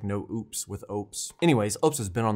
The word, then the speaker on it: Oupes: to pronounce the word so I just said opies Opus anyway I actually looked up this time it's oops like oops like they got a slogan it's like no oops with oops anyways Ops has been